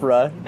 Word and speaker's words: APRA: APRA is what we like to call it.